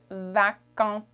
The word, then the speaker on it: vacante: Or if it's feminine, is vacante. Vacant for masculine. Or vacante. Vacante. So it's going to sound like vacant, vacante. Okay? The little T sound at the end.